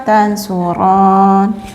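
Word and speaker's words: تنصرانّ: Saya tandai antuma tansuron, maafkan salah, antuma tansuron nih panjang ya bacanya jadi mad. Mad apa ini? Kalau ada mad tobi bertemu dengan tasdid, mad lazim 6 harokat.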